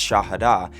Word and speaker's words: Shahada: That first pillar, the Shahada, sometimes pronounced Shahada, is basically the entire teaching of Islam boiled down into one sentence.